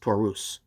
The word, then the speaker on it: Taurus: over all the times i keep saying tourists but um that's pronounced taurus but yeah as a